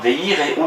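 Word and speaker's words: וְיִירְאוּ: Il faut prononcer le Sheva de façon à dire veireu, ils craindront.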